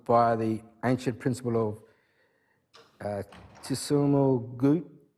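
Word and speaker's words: Ts'imil Guut: the ancient principle of Tisumul Gut. He told me how to pronounce it, Simul Gut, and has worked extensively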